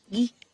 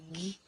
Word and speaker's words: ghee: G-H-E-E en sanskrit. Voilà, ça se dit ghee. Guy. Comment? Guy. Comment ça se prononce? Guy. C'est plus Guy.